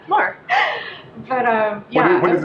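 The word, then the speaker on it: Moher: number two was exploring the Cliffs of mower am I saying it right mower time yeah more but uh yeah what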